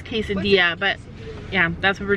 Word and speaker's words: quesadilla: to taco bell and ask for quasadillas and we know we're saying it wrong we're doing it on